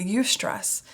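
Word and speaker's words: eustress: negative stress but fewer are uh aware of UST stress that's spelled EU stress and that's the positive stress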